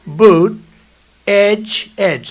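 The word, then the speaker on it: Buttigieg: know years ago I said how do you pronounce that damn name and they said boot Edge Edge the word Edge Edge that's the way it's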